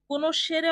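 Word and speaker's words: conoscere: কোন শেরে অর্থ চেনা। তাহলে উচ্চারণটা কি হবে? কোন শেরে বলুন কোন শেরে।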